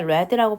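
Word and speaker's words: read: 보여주었습니다 그 아래에는 현재형으로 쓰이지 않고 과거형으로 쓰였으니까 레드라고 발음을 해볼게요 쓰여져 있었다 자동사로 쓰이면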